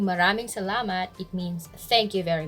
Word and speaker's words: salamat: thank you we say salamat stress on the second syllable salamat don't say salamat that's the wrong stress